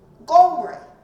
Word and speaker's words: Omri: So they called them Bit Omri because in their language, Omri would have been pronounced Gomri, the heart, Gomri, or Bit Kumri, depending on which part of the kingdom of Assyria was calling these people.